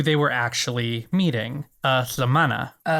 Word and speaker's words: lhamana: But, you take the you take your tongue, put it up the roof of your mouth like you're going to pronounce, you know, the sound for the letter L, lha. Lha. But, then instead of making that sound, you just kind of force air around the sides of your tongue.